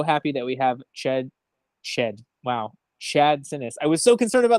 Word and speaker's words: Sinness: For those who don't know Chad, one, he is way more understanding when you can't pronounce his name, even though it is exactly how it spells, than I would be.